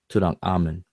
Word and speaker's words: Tutankhamun: So it's Amun Tutankh when you read it literally the way it's written, but it's pronounced Tutankhamun because of the grammar.